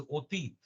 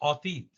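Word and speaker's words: অতীত: For example, past, otit, that is pronounced as otit, but not otit.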